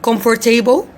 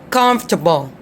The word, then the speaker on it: comfortable: the middle too so we some people say comfort table or comfortable or a comfort comfort table no okay don't say this try to follow me try to follow my accent comfortable comfortable comfortable all right salmon all right you